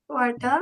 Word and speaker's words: Quartal: কোয়ার্টাল, কোয়ার্টাল, কোয়ার্টাল হবে না? কু জি জি পরে জি, কি আছে? কু আছে, আ আছে, তার মানে কুয়ার্টাল।